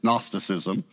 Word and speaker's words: gnosticism: from a greek word the g is silent it's gnosticism it means knowledge a